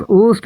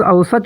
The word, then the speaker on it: اوسط: یعنی اوسط، اور ہاں اکثر لوگ اوسط کو اوسط بولتے ہیں، جو کہ غلط ہے۔ اس کا صحیح تلفظ اوسط نہیں ہے، بلکہ صحیح تلفظ اوسط ہے۔ آپ اس کا صحیح